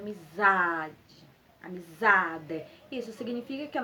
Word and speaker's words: amizade: forte então fica amizade se fosse o d ficaria amizade amizade a palavra não é amizade a palavra é amizade amizade Isso significa que